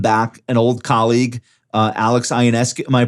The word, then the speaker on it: Ionescu: You guys welcome back an old colleague, Alex Ionescu. Am I pronouncing it right? Yeah, Ionescu.